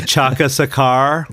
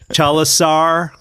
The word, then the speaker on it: Chandrasekhar: He would say, Chandrasekhar. Say what? Chandrasekhar. Chalasar.